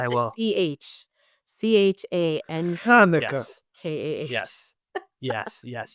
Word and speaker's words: Chanukah: CHANKAH. Hanukkah. Yes. Yes. Yes. You need to maximize the phlegm. It has to be the CH, I will not not the H.